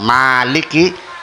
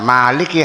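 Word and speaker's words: مالك: Ada Maliki yaumiddin yang tulisannya mim, lam dan kaf. Nah, kalau yang dibaca panjang Maliki harakatnya berdiri. Jadi bacanya Maliki sebagai pengganti alif.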